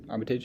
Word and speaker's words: Armitage: he visits his girlfriend's family the omitted Armitage Armitage is how that's pronounced as he continues to his day the